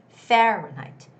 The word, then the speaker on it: Fahrenheit: on the first syllable it's fahrenheit fahrenheit fahrenheit you don't necessarily have to say height it's fahrenheit sounds more like night like day and night fahrenheit fahrenheit okay and the word